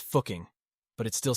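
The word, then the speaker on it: Fucking: is located in the Upper Austria region it's pronounced fuking but it still sounds weird weird doesn't it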